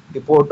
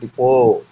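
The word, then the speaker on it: depot: Choose the word in which letter T is silent. క్రింది వాటిలో T silent గా పలికేటువంటి letter డిపోట్ అనకూడదండి. డిపో టీ ఉంటుంది కానీ డిపో అనాలి.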